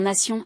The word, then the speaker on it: nation: Ce T est un imposteur. Il se prononce S comme dans nation est essentiel.